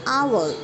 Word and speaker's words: hour: So here hour, honored, the h is silent.